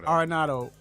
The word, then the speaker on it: Arenado: How you pronounce his name? Arenado.